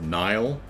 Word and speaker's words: Neil: You may not care, but Neil is pronounced Nile. Oh, okay. Good. Good. Good. Good to know. Huh? It's Nile.